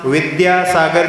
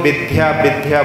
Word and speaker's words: विद्यासागर: सही उच्चारण नहीं करते आचार्य श्री का नाम विद्यासागर दी है लेकिन लोग विद्या विद्या बोल देते तो यहां पर